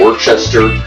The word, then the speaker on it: Worcestershire: Now, you might say Worcestershire, some people say Worcester, I say Worcestershire, so shut up about my pronunciation of it.